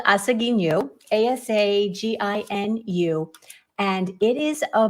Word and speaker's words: Asaginu: wrong but that um each syllable in a japanese word has an equal stress so asagi nu is